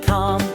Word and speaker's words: calm: Walk and talk and evening calm, L is silent, soft and warm.